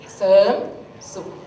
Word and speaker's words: Serm Sup: Sawadika, my name is Serm Sup. Serm Sup. You can hear that Serm. There's no R sound. But in here I put R, right?